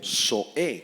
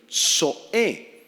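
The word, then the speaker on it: ζωή: subraya la palabra vida proviene del griego Zoé con z y acento en la e Zoé y se refiere a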